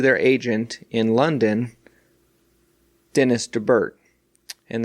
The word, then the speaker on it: DeBert: At that meeting, they wrote this letter to their agent in London, Dennys DeBert. And it's spelled like Dennys, the restaurant Dennys, without the apostrophe.